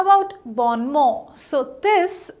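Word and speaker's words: bon mot: explanations okay how about born more so this the correct pronunciation of this word is born more it's not born more it's born more so ba ma is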